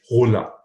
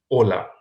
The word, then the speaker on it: hola: right hello is hola you cannot say hola why because h is silent in spanish right just skip the edge and pronounce it hola okay and you are